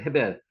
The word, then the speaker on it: 헤벨: 있느냐 아벨이 어디 있느냐 헤벨이라고 원 있는 발음합니다 헤벨 내 아우 헤벨이 어디